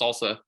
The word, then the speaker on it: SLSA: levels for software artifacts it's abbreviated slsa and it's pronounced salsa uh it gives us